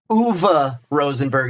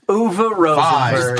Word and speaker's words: Uwe Rosenberg: I'll show you the choices so you can see how it's spelled. Uwe Rosenberg is how you pronounce that name, but he knew Fine. it. He knew Fine. it. Yeah. Uwe Rosenberg.